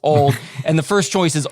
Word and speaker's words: Auld: Ultimate Disc League, but it's pronounced old.